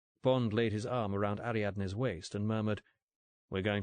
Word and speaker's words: Ariadne: Ariadne. Easy. Four pretty syllables.